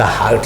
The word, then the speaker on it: hurt: Pronunciation कैसे करते हैं सर, ये हर्ट होता है चोट पहुंचाना किसी को, और ये होता है हार्ट, दिल होता है जिसे आप बोलते हो, ये होता है हार्ट, इसे बोलते हैं हार्ट।